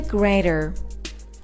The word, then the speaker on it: grater: of the English-speaking world we would pronounce the 'T' so it's graTer and graTing carrots it's a cutting board No.